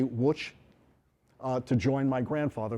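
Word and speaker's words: Łódź: grandmother trying to get to which or as we might pronounce it ludge poland the polls say which uh to join my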